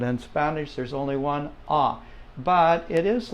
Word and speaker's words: a: explain this for you but the a in Spanish is always ah let's all say that